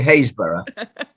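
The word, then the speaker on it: Happisburgh: near a place called it's spelt happensberg but in english we say haysborough but you can be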